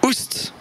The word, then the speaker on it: ost: oust.